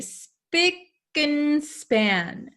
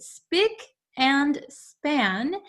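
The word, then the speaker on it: spick and span: we have and here usually when we pronounce this word we say speaking span speak and span speak and span so we can say it very quickly and span okay but speak and span is a word that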